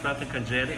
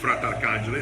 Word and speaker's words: Fratarcangeli: I'm here with Fratarcangeli. Hope I pronounced it correctly. Fratarcangeli, that's correct.